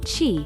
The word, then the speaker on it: qi: the circulation of energy she pronounced chi throughout the body which